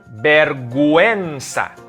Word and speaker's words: vergüenza: But once we see that diaresis on top of the U, we have to pronounce the U. Take a look at these examples. Vergüenza.